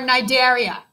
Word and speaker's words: Cnidaria: to talk about are nidaria it starts with a c okay but it's uh it pronounces nigeria the c silent because of english and it's stupid all right but it